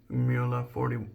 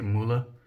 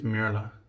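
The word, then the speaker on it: Mühle: I think that is the way they say it. It's funny because the Germans try to explain how to pronounce it, and I feel like pretty much all of us just fuck it up. But I think it's Murla. Like, a lot of people say Mula, and a lot of people say Mula.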